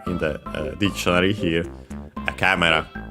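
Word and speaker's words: カメラ: First and foremost, we have, of course, camera, as usual, our camera. Should be accented. Yes, it's accented on the first syllable.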